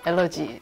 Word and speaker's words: 알레르기: 입니다 엄마는 알려 있잖아요 미국 발음이 알러지 누구의 한국에선 앓는 한국 공식 표기가 알레르기 입니다 5 뭔가 파괴 봉분 어떻고